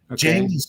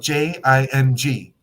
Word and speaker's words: Jing: our Jing is stored Jing that's spelled j i n g like the first part of Jingle Bells okay without the O and without the bells so Jing j n